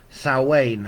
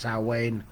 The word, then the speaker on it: Samhain: year and so we're going to look at sa Wayne I know it's spelled Sam ha but it's pronounced sa Wayne depending on where you're from hello Caroline and